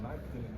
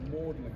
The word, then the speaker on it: Magdalene: So he told everyone, instead of pronouncing it Magdalene College, they should pronounce it Magdalene College, after his own last name, Thomas Orwell.